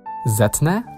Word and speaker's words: zetnę: It's only written sz to reflect pronunciation, but with the mobile e, the z comes back to its original pronunciation. Zetnę, I will cut off,